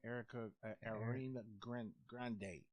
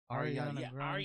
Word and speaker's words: Ariana Grande: I can never pronounce her name. Erica Arena Grande. Ariana Grande.